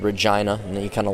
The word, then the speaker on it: Regina: was that uh manosi manasi however you Canadians pronounce it it's not Regina it's called Regina and then you kind of laugh and snort